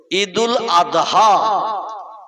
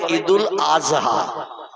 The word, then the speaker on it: ঈদুল আদহা: ঠিক তদ্রূপ ঈদুল আদহা এ শব্দটা হলো শেষে দোয়াত উচ্চারণ করতে হয়, কিন্তু ওরা বলে ঈদুল আজহা। কি বলে? মানে জয় অক্ষর উচ্চারণের মতো আওয়াজ করে বলে। আমরা বলি ঈদুল আদহা, কোরবানির ঈদ।